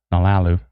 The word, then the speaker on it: Nolalu: Cosmic Debris says Nalalu. Nalalu? Was I saying it too slow? Nalalu. Maybe. Maybe. Trina says you're saying it right, and she's from there, so.